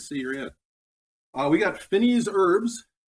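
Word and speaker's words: fines herbes: We got Finney's herbs, or Fine's herbs, depending on how you pronounce it.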